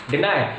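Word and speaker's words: deny: हम पढ़ने बैठे तो हमने इसको डैनी पढ़ दिया। क्यों पढ़ दिया? क्योंकि 22 से बड़ी की मात्रा भी तो कभी कभी प्रोनाउंस कर लेते हैं हम लोग, लेकिन वो बाद में हमारे टीचर ने हमें बताया कि इट्स नॉट डैनी बट डिनाई, तो हमने अपने आप को करेक्ट किया।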